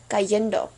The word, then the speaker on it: cayendo: So with leer, it's pronounced leyendo, and with caer, cayendo. Okay?